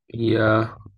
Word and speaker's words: Yahawah: Yahawah.